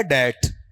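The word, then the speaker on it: debt: माय डेट ठीक है इसका उच्चारण बताओ डेप्ट होता है या डट ट ना ना डेप्ट नहीं होता है ठीक है अगर आप क्लास में नहीं थे बताओ क्या है आपका डेट है ठीक है बी क्या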